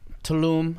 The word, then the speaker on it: Tulum: How do you, I how do you sure pronounce did. it? Tulum.